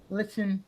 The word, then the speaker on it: listen: Some people say listen, but that's when they're learning English. Let me just check this one. I want to see what the dictionary said. Listen. Always silent, the team.